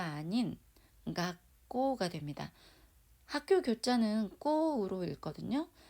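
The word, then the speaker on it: 学校: 그래서 가꾸꼬가 아닌 가꼬가 됩니다.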